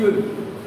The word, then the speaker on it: you'll: उसका प्रोनाउंस करेंगे यूल।